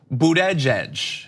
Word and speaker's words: Buttigieg: to be I think Buddha judge Buddha judge and what does he say he wrote it bud jedge bedge bud jedge bu we we write out